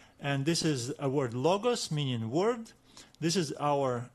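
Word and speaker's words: λόγος: this is a word logos meaning word this is our accent which means that we will need to stress this letter this syllable as we read it first let's name every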